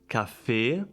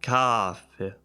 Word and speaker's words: café: It's like café. It's not like café.